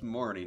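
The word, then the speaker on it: Marnie: that is her name her name's Marney not Marine I don't know why I always pronounce it Marine in my mind it's just the weird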